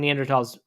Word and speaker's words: Neanderthal: I guess that's when neanderthals lived by the way Neanderthal is pronounced tall you know that not thaw I didn't know that